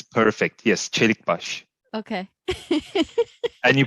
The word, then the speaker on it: Celikbas: it came out yes then it's perfect yes cherry bush okay and you pronounce it now amazingly perfect thank you thank